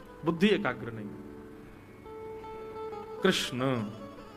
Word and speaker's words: कृष्ण: कृष्ण, कृष्णा नहीं, कृष्ण ठाकुर जी का नाम कृष्ण रखा गया।